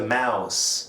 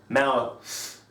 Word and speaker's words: mouse: Say it like this, it's the mouse, not mouth.